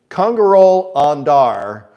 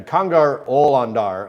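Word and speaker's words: Kongar-ol Ondar: there as we can congero andar uh is it's actually conar ol andar I think is how you say it he's a tuon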